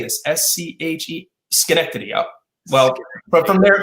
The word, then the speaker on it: Schenectady: for me i could didn't know how to pronounce the name schenectady i remember asking someone how do you use how do you say this s-c-h-e schenectady up well but from there from there it